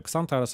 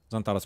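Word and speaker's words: Xantares: Иногда забиваю, читаю Ксантарес, опять же. Зонтарес мне нравится, как звучит. По факту это и правильно так произносить, по-хорошему.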